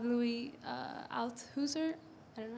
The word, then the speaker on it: Althusser: me think of this Marxist philosopher called Louis Althusser. I don't know how to say it. Althusser.